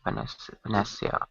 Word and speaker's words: panacea: Panacea. How do you pronounce it?